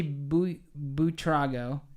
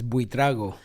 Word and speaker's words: Buitrago: trago is that right well because there's an eye snuck in there right but the tease kind of sounds like a d it's blue drago well you guys are both sony we suck the wrong way but it's okay yes yes the the right pronunciation is bui trago we draw hi i